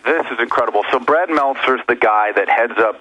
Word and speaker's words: Meltzer: Author Brad Meltzer, how do you pronounce his name? Meltzer.